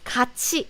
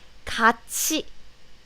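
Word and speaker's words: 같이: pronunciation of this is kachi even though it's supposed to be cut t but the pronunciation and the letters are different so it's kache and next useful one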